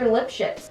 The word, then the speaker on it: Lipschitz: Lipschitz. That's his name, that's how you pronounce it.